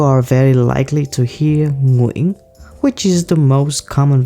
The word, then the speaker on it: Nguyen: is a big challenge if you're saying gongrian i'm going you are wrong no worries in this